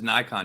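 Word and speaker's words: Naikan: Yeah, that's Nikon. Yeah. Yeah. And that's spelled the N A I KN. Is that right? N A I K N. And it's pronounced like the camera Nikon.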